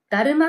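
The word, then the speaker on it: 達磨: だるま皆さん達者と書いてだるま」って読むことを知って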